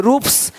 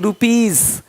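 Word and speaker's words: rupees: जैसे कि यहाँ पे रूप्स, यहाँ जा साउंड नहीं आएगा, लेकिन यहाँ पे एक्स नहीं एग्स। हीरोज, हीरोस नहीं, देख रहे हो, रुपीस नहीं रुपीज, ज का साउंड आ रहा है हल्का सा।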